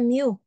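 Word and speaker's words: μ: namanya huruf Yunani ya huruf Yunani itu bacanya mu Greek letter ini mu nah kemudian yang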